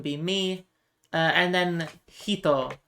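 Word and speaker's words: 人: Uh and then hito the kanji for person uh that can also be pronounced nin. So I believe this is sanin for three people.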